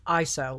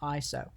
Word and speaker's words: ISO: to talk about is called iso it is pronounced iso like that iso um it is actually an acronym and i